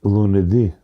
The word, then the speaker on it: lunedì: Uh uh Lune- lunedì.